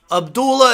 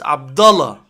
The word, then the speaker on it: Abdullah: Abdullah is a wrestling character. It's Abdullah. If you learn anything from today, learn how to pronounce Arabic names.